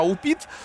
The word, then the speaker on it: Упит: Да, Упит. Вадим, именно такое ударение в фамилии этого парня.